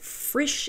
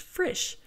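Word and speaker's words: frish: and a very great Frisch in the night and in this case it's spelled FR is H Frisch so we have a number of pronunciations going on here and that church was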